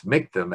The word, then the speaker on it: Michtom: And the story now switches to the wilds of Brooklyn, New York, where a Russian immigrant couple, Rose and Morris Michtom, M-I-C-H-T-O-M, rhymes with victim.